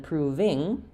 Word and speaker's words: proving: And then proving, I'm going to have the clear vowel there but short, and the NG sound.